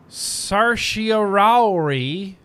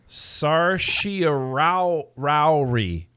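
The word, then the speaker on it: certiorari: to be made certain i wrote down a phonetically spelled version of it oh look at your little heart yes it says california on it sarshia rao rauri i believe i'm going with it it's close enough the number of petitions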